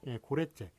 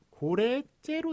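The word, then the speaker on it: 고랫재: 그런데 그냥 참고로 알아두시는데 자, 고래째 볼까요? 고래째. 이게 발음이 고래째로 나니까 그렇죠. 고래째로 나니까 결국은 이제 고래째로 적는 거잖아요.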